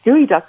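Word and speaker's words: geoduck: walk anywhere where you were sort of jig gooey duck around you'll see these little siphons kind of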